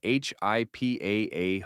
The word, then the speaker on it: HIPAA: If you can answer the five questions in this video, you can pick hip pa or sometimes mispronounced as hippa hosting with confidence without drowning in legal ease.